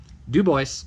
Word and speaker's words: Dubois: pronounce Dubois Kemmerer and fontanel that's how you pronounce him Dubois camera her and it font now alright Kemmerer